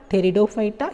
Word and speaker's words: Pteridophyta: Thallophyta, Bryophyta, Pteridophyta, here P is silent, Gymnosperms and Angiosperms.